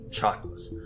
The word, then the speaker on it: Chakwas: It's pronounced Chakwas.